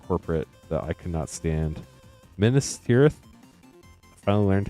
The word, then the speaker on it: Minas Tirith: Minas Tirith.